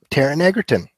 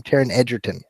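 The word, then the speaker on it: Taron Egerton: Um, and then, um, Taran Eggertton. Edertton. Actually, we've miss been mispronouncing his name. Taran Edertton.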